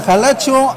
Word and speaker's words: Jalacho: Dice Miki Cabrera, Jalacho, acento en la O, amigos.